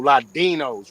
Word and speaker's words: Ladino: What's Like a if you can Ladino? say in D, it pronounces like a TH. So you can say Ladino. You can say that, but it was with a D.